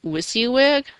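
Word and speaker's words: WYSIWYG: can also you easily edit HTML files using wiy wig that's spelled Wy s i Wy G what you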